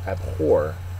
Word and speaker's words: abhor: the of the unit is abhor and uh the accent syllables second syllable it's a verb it